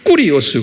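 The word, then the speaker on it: κύριος: 이게 꾸리오스 그래요. 꾸리오스. 그래서 이제 킹 제임스 성경이 1611년에 만들어졌는데 이때도 이제 제호바라고 구약에 말하기도 하고 또는 신약은 the Lord, 꾸리오스 이렇게 발음해요. 꾸리오스.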